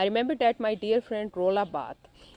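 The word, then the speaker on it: Roland Barthes: I remember that my dear friend रोला बाथ। ये pronunciation देखिए बेटे इनके नाम की, रोलैंड बार्थेस नहीं है, रोला बाथ।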